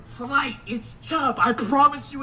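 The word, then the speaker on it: Chubb: chubs bro that that's how the name is pronounced c h u BB D flight it's chub I promise you it's chub it's not CHS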